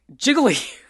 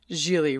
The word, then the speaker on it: Gigli: one can pronounce je people want to say jiggly or giggly but Ben Affleck Smooths out the second G and pronounces it Jil rhymes with really Larry giggly right I